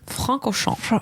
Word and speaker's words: Francorchamps: So how you pronounce it? Francorchamps.